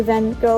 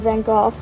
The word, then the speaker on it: van Gogh: big on and obviously van gogh or venkoff depending on if you want to pronounce it properly is personally one of